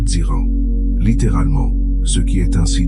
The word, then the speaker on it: Ziran: Ziran, prononcé Ziran, littéralement, ce qui est ainsi de lui-même, ce